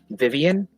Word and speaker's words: Vivian: Now, Vivian.